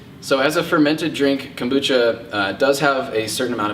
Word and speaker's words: kombucha: really delicious sparkling fermented tea beverage kombucha is pronounced kombucha a lot of people say Cambodia is actually kombucha the origins are in ancient China and Russia